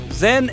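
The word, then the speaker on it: 甄: Zhen est la prononciation du nom de la fille de la dialecte pékin, tandis que la famille Yen est la prononciation cantonaise.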